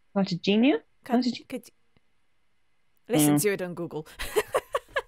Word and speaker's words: Cartagena: Cartagena.